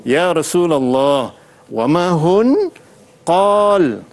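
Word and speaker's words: قال: Contoh, qalu ya Rasulullah wa ma hun qal. Bukan qala, tapi qal sebab dia berhenti. Jadi qal.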